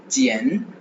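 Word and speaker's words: jiàn: கரன்சியா குவாய் அப்படின்னு சொல்லுவாங்க யுவான் ரெண்டுமே சைனீஸ் கரன்சி ஜியன் ஜியன் J-I-A-N ஜியன் ஜியன் ப்ரொனவுன்ஸ் பண்ணுவோம் J-A-N ஜியன் ஜியன் ஜியன் ஜியன் ஜியன்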